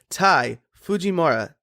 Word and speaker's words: Ty Fujimura: Today, my guest is Tai Fujimura. Tai, how are you doing today? I'm very good. That was an excellent pronunciation.